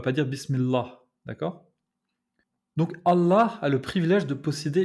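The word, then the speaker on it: الله: Donc essayez de faire un L normal et essayez de replier le bout de votre langue contre votre palais. Le L va se transformer en L, d'accord? C'est ce son-là qu'on a dans Allah.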